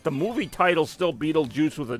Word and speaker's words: Beetlejuice: Either way, it's pronounced Beetlejuice, but the spelling that you mentioned with the G is actually on his tombstone in the live-action movie.